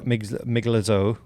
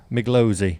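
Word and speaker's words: Migliozzi: be getting one, then Guido Miglazzo. This is getting worse. Yeah. Miglozzi. Yeah, that one.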